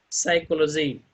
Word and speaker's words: psychology: is not pronouncing here psychology in this world the letter p is not able to pronounce it he is not able